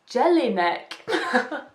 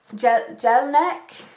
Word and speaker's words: Jelinek: The evidence-based 7-step recovery program, and this is by Professor George Jelinek. That is definitely not how you say it. Jelinek.